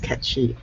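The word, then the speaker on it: Cait Sith: him like well um our old bureaucrat diablo khan said that was pronounced catchy and she's actually scottish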